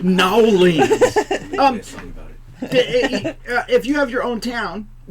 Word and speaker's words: New Orleans: it's pronounced Nowlings.